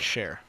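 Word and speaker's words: Scher: We had Sheer. We did, but didn't he spell it kind of different? S-C-H-E-R. That's like share.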